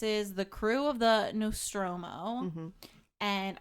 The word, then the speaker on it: Nostromo: the crew of the Nostromo and I had to write out how to pronounce it no stroo the no stroo there are seven aboard